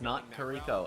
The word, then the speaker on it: Noto: I'mma call it out official Caster pronouncing a character's name wrong it is Noto and I will more